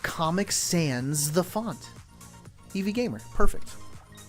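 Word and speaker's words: Comic Sans: Eevee Gamer like Comic Sands. The font Eevee Gamer. Perfect. Imagine I was pronouncing that comic sons.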